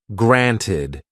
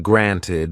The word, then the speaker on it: granted: James didn't pronounce the in granted or little. He used a glottal stop instead.